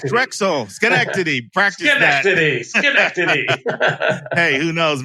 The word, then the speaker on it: Schenectady: Schenectady. Wow, little do they know that they've been mispronouncing their town for the last 200 years.